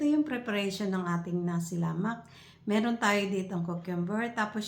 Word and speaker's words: lemak: So ang pronounce po nito ay lamak sa Brunei or Malaysia o sa Singapore kasi